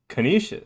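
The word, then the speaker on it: Canisius: No work play joke required because I can't think of anything that rhymes with Kenishious at least not appropriate. It is Kenishious.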